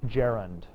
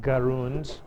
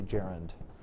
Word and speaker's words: gerund: quite sure why but it's jarand not gun or gur uh or any sort of fancy French pronunciation you should be American and uncouth and say Jaren probably has a Germanic